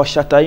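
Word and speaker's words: Shotta: You know, in Jamaican language, you know, spell it Shatta, S-H-O-T-T-A. Yeah. You know, because Shatta. Yeah, but they pronounce it Shatta still, you know.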